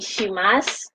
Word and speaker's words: shimasu: Osaki ni shitsurei shimasu. Wala pong you ha, silent you.